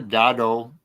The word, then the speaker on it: Godot: He pronounced it Godot.